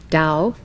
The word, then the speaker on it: Tao: Chinese which as you know is spelled t-a-o Dao means Road way or path